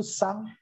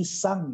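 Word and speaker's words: さん: 3 itu sang. Bukan san ya, tapi sang ya. Sang.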